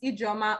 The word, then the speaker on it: Ijama: of rdi huh um mrs drama look at how you say it my name is mrs ijama i'm an educationist by